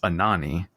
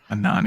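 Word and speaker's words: Anohni: Uh, it apparently is Anani. Anani. That's right. Uh, a n o h n i.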